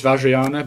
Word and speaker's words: Vajrayana: We do know how to say it, it's Vajrayana, but...